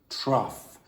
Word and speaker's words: trough: that's what a trough is okay and the pronunciation is truff Tru like cough smattering means a small amount